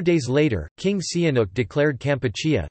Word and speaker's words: Kampuchea: 4 days later, King Sihanouk declared Kampuchea, the original Khmer pronunciation of Cambodia, independent.